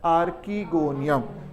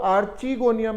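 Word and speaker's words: archegonium: और ब्रायोफाइटा से लेकर जिम्नोस्पर्म्स तक the female sex organ is आर्कीगोनियम। बहुत लोग आर्चीगोनियम भी कहते हैं, बट it depends upon how you pronounce. So I call it एज आर्कीगोनियम।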